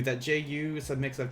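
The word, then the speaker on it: じゅう: And very similar to Q, that Ju is a mix of 2 symbols. It's G-U, but we pronounce them together as ju.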